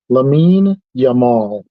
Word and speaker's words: Lamine Yamal: I I I learned that is the actual pronunciation is lamine lamine yamal okay 17-year-old Kitty plays for Barcelona and he's